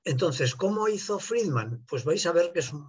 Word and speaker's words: Friedmann: Se escribe Friedmann, como lo he puesto aquí, aunque los americanos ahora lo ponen como Friedman y cosas raras, pero en ruso es Friedmann, como se escribe y como se lee.